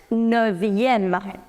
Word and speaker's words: neuvième: You remove this F, and instead of F, you put V, which makes it neuvième. Neuvième. Remove F, put V, and add the suffix em. So it becomes neuvième.